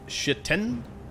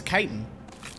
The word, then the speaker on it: chitin: I used to think that this was called chitin, but it's chitin.